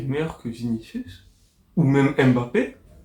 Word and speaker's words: Mbappé: Franchement, Mbappé Mbappé, je sais, je sais faut prononcer Mbappé.